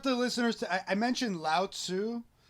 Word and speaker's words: Lao Tzu: listeners to I mentioned Lao Tzu sometimes pronounced Lao Tzu yeah he wrote the